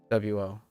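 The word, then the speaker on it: を: And then there are still areas of Japan that actually do pronounce WO. So, I mean, asterisk is actually one of them. So right now we are learning the contemporary modernization, but there's still places in Japan that does say that.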